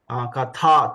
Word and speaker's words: कथा: Katha, tha, Mahaprana, Katha.